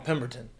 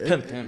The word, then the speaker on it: Pimpton: I always want to call him Pemberton. Yeah, it's Pimpton. Yeah, it is spelled like that, but it's Pimpton.